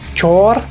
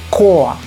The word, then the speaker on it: Chor: O sea, esto nosotros no lo leemos Chor, no. Cuando en alemán encontramos, en la mayoría de los casos, una palabra que empieza con C y H, ese sonido es K. Koa, Koa, esto se lee Koa, ¿sí?